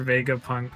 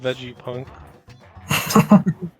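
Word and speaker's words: Vegapunk: is this guy this is on fire dr vega punk made this guy it's pronounced veggie punk what if he is just like a vegetable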